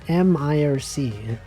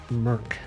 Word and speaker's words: mIRC: No, it's MIRC. Merc. Also known as Merc. No one really pronounces it as Merc. Actually, I'm sure there are some people.